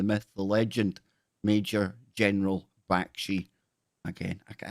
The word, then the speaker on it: Bakshi: How do you pronounce General's last name? Bakshi. The same way it's spelled.